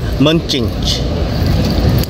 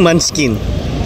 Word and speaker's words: Munchkin: Dunkin Munching. Dunkin Munching. Dunkin Munching. Ano pronunciation? Dunkin Munchkin.